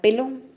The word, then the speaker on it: pelón: sílaba, sea la palabra de una o más sílabas. Ejemplo, ratón. La intensidad recae sobre ton, de igual manera pelón.